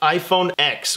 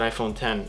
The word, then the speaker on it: iPhone X: and these ugly douches pronounced it iPhone X with the EC KS but it's pronounced ten ok sorry I'll pronounce that iPhone 10 I won't say iPhone